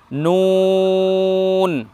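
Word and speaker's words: نون: প্রথম বর্ণ পেয়েছি নুন, তারপরের বর্ণ পেলাম ওয়াও। দুইটা বর্ণে সদা সর্বদাই ঠোঁট গোল করতে হবে বর্ণ উচ্চারণ করার সময়, এটা মাথায় রাখতে হবে।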